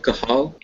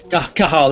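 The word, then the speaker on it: Cathal: do you how do you say it again kahal kahal that's it you got it man silent Irish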